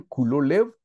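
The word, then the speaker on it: כָּל לֵב: pero Caleb viene de dos palabras que se pronuncian culo lev y culo significa todo y lev significa corazón hermanos Caleb o perro significa todo corazón veámoslo en lo natural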